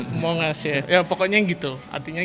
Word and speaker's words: Among Us: Among Us. Among Us. Pronunciation-nya Among Us ya.